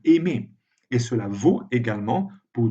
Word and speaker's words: aimer: Mais si on prend les verbes de la conjugaison en R, dans ce cas, le R n'est pas prononcé comme un aimer.